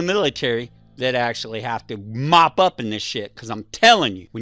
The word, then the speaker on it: MOPP: mission oriented protective posture hope pronounced mop just like you grab that damn mop and you go [